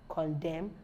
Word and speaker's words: condemn: once n comes after n it is not pronounced Autumn hymn column Salem damn condemn and lame silent P silent pH and Silent